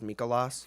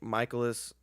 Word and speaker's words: Mikolas: Oh, it was great because even after he said how to pronounce it, everyone was like, "Yeah, Miles Mikolas." It's like no, he said it's Michaelis, guys. Michaelis.